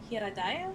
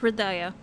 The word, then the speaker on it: Hridaya: They're from a remote village in Hiradaya. Is that how you pronounce it? Hridaya. Hridaya, thank you.